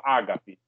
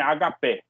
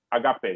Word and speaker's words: ágape: Então, tem essa palavra ágape. A pronúncia grega mesmo é agapé. Agapé.